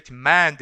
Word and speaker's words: demand: demand 했을 때 강세가 어디 옵니까? 앞에는 강세가 오지 않고 뒤에 두 번째 음절에 demand 이렇게 오겠죠.